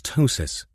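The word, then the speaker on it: ptosis: The technical term was tossis with a silent P, wasn't it?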